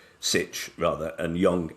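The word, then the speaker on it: Sytch: by um two researchers one was called Maxim Stitch Sitch rather and Young H Kim who um sounds like a Korean name.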